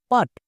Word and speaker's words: put: পি এর জন্য টো পাট কিন্তু এর উচ্চারণ পাট হবে না এর উচ্চারণ হবে পুট এবার কোশ্চেন হচ্ছে কেন